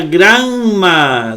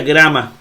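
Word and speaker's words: γράμμα: así se pronuncia melo la otra no se pronuncia granma se pronuncia grama la otra en la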